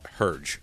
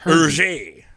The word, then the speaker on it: Hergé: which again I always called Herge growing up, not Hergé. Hergé. The way he got this was he took his initials R and J, or G and R, George Remy, and flipped them around to R and G, and then added a little bit of like French Belgian accent on there. So it was like RG.